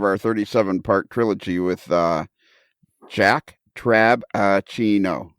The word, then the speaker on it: Trabachino: It's 4 syllables. Yes. Jack Trabachino. Dave? Lionel. I'm not sure you always pronounce that B clearly because until Jack actually I had it spelled out for me, I did not see that B in there in Trabachino.